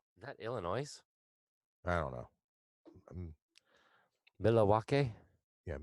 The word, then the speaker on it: Milwaukee: illinois' I don't know Milwaukee yeah meet Lee walk' I believe is actually how the natives pronounced it but somebody I only